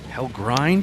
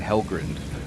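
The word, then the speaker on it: Hellgrind: Hell grind.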